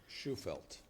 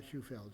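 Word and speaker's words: Shufelt: It should be S-H-U-F-E-L-T, not, doesn't end with D. Minor correction, but spell her name correctly. Schufelt. Schufelt. Very good. Not Schufeld.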